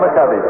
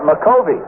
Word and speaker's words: McCovey: You know, during his entire minor league career, this fellow's name was pronounced, and he pronounced it McCovey. And he pronounced it McCovey when he came to the major leagues, but nobody else did, and he finally just gave up and said, all right, call it McCovey. So everybody does.